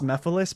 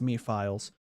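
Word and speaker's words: Mephiles: I know that his name is pronounced Mephilis, but like think about it this way, guys. It looks like it's pronounced Me Files.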